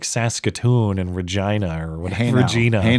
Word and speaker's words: Regina: It's Regina. It's Latin for queen. That's the justification, anyways. Okay. Yeah, it's on coins going back to Rome. Okay. Regina. Well, it'll always be funny. It rhymes with penis.